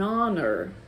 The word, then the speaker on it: honor: Por exemplo, o H com um O normalmente é mudo. Então, fica an honor, and honesty, and... enfim, qualquer palavra com H-O.